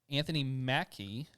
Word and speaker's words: Anthony Mackie: right we know that it's finished yeah uh anthony mackie that's how you say his name right yep